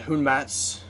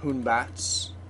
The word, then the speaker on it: Hun-Batz: Welcome back to more SMITE with the new god Hun-Batz, who is the Wukong makeover.